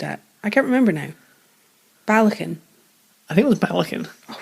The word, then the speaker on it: Ballechin: you couldn't pronounce it I looked it up and I was informed it was belecken what's blackened with you huh or is it balakin how do they say